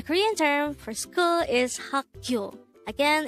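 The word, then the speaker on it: 학교: term for school is hakyo again it's haku this is pronounced as two-syllable word the first syllable is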